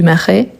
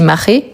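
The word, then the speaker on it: Marais: dans le quartier du Maré il y a certaines personnes qui dit Maré c'est une question d'accent tous les deux sont correctes ok Maré Maré ok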